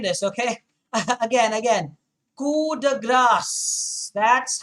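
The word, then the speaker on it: coup de grâce: this okay again again cuda grass that's how you say it it's a french term so the p is silent you don't pronounce it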